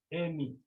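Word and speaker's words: εἰμί: Remember, it has two syllables. The first syllable is A, the second syllable is me, Amy.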